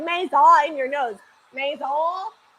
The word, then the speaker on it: maison: The S-E-N is silent, so it's like Maison. How do you say that? Maison. You say it like you're gonna say the end, but then you don't.